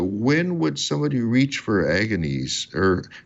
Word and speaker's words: Agones: I'm not a quality, but apparently it should be pronounced Agones with a soft G, which is like a public contest. It was like pre-Olympic type of thing. But if you say it with a hard G, it actually means elbows.